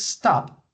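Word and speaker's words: stopped: when you pronounce stop the last consonant or the last sound that you pronounce is the P sound in that case the Ed is going to sound like T but pay attention because we are not going to add an extra syllable to the pronunciation okay so I want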